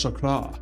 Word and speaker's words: chakra: deep spiritual topics like a chakra that's actually pronounced chakra and you know if you you should respect